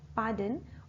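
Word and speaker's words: pardon: एक बार सॉरी बोल दें, दूसरी बार पार्डन बोल दें, पार्डन, र हमारा साइलेंट रहेगा, पार्डन।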